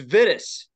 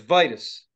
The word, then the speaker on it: Vitus: say it right because I think it's vidis but it's Vitus yeah advice I'll write